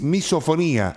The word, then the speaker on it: misofonía: Es misofonía, así es, ¿no? Así es, así tal cual, con acento en la I.